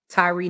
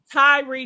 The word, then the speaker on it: Tyre: So, how do I properly pronounce his name? Tyreek Nichols. Tyrie Nichols.